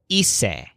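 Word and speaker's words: hice: dinner was very easy Joel's word for I did or I made is ESA which sounds kind of like easy but it's spelled HIC e but then joel looks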